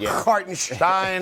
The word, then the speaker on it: Hartenstein: the 5 spot, out of their center, with Hartenstein or I think that's how you pronounce it, Hartenstein Nailed it.